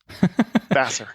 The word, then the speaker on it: Vassar: cognitive science from vasar vaser vasar how's that pronounced vaser Vasser so vaser College he went on to lead